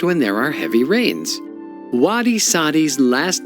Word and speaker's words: wadi: whose nickname is Wadi not only does Wadi rhyme with his first name of Saudi but the country of